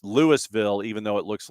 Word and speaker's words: Louisville: Lewisville is pronounced Lewisville, even though it looks like Louisville, like the town in Kentucky.